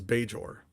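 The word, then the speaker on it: Bajor: Uh, the name of the planet is Beor.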